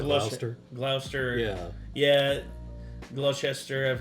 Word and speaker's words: Gloucester: Yeah, because I think isn't there like it looks like it's spelled Gloucester, but they just call it Gloucester.